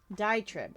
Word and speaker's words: diatribe: Okay, I need to understand how to pronounce this word because it's bothering me. Okay, T-I-T-R-I-B-E. Diatribe.